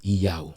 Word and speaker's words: Yaw: Now, the right pronunciation of your name, it is Yaw.